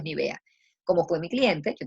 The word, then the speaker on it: Nivea: este tipo de cosas en libia a veces decimos ni bien el resto del mundo es ni vea cómo fue mi cliente